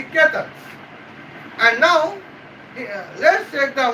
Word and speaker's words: Ketan: I mistakenly pronounced Chetan, it would be Ketan.